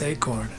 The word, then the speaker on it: eekhoorn: He says, funny Dutch tidbit, squirrel means eekhoorn in Dutch, which is pronounced acorn.